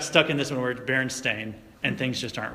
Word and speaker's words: Berenstain: here did you know they're not called the berenstein bears did you know that the berenstein bears is actually the berenstain bears it's spelled right here st8 IM we've all been